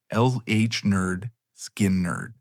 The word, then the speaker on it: Lynyrd Skynyrd: And in 1973, they released their debut album, pronounced LH Nerd, Skin Nerd.